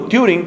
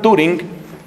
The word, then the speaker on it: Turing: homosexual llamado alan turing alan turing o touring creo que pronuncian en inglés alan turing era homosexual era una